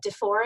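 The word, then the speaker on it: DuFour: This is based on the work of DeFore and Aker is how he pronounces it.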